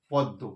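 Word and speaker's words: পদ্ম: পদ দয়েদ দ পদ্ব মানে উচ্চারণটা এরকম করি। কিন্তু আমরা বানানটা দ ম লিখি।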